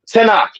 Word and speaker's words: Tanakh: So, Tanakh is how that's pronounced.